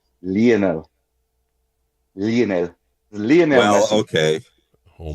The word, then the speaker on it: Lionel: The the proper pronunciation is Lionel.